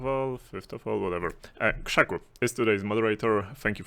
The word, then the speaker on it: KrzaQ: KrzaQ is how you pronounce it, actually. It's a Polish pronunciation, so there you have it.